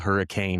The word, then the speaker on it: Hurricane: I know it's it's spelled hurricane, but we pronounce it hurricane for whatever reason.